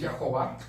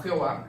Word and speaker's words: Yahová: Hay un ministerio muy fuerte internacional que dice que es Yahová, no Jehová, es Yahová, y dan sus argumentos.